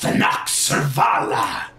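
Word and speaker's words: Thanachsurrvala: great Dragon you stand in the presence of than surala wow that sounds very difficult to spell how do you how do you spell that oh why yes it is t h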